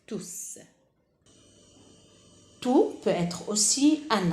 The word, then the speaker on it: tous: Comme vous voyez ici, j'ai prononcé à la fin une consonne, tous. Là, elle a la nature d'un pronom indéfini, car il remplace le nom mes amis. Mes amis est un nom masculin pluriel, donc tout va être écrite à la fin avec S et on prononce tous.